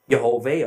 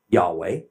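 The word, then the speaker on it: יהוה: Yud-He-Vav-He, which I have elected to pronounce Yehovah, others have elected to pronounce Yahweh.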